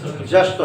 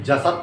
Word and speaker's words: जश्त्व: कौन सी संधि है, जश्त्व संधि, जसत तो नहीं कहेंगे, जश्त्व संधि। ठीक है, उच्चारण करना सीखो।